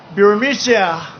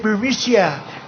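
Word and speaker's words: Burisma: with the burmese executives so this uh burmesia bermusia they say pronounce it berisia a real beautiful company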